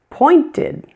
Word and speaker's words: pointed: Pointed. The ED is fully pronounced here. Ed. Pointed, pointed. Sounds like ed.